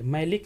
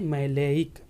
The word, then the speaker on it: maleic: ठीक है, मैलेइक acid, मैलिक नहीं मैलेइक, यहाँ पे थोड़ा सा ई का फिर बस फर्क है स्पेलिंग में।